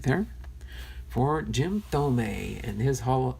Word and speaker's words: Thome: Jim Thome.